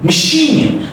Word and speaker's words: machine: Machine. So imagine there is no A, it's like a Schwa sound, okay? Machine is unstretched, okay?